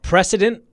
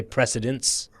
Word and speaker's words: precedent: Precedent. It's precedence. Precedent. Like you're setting a precedent. Some people say precedence. Oh, I've heard president. Precedent.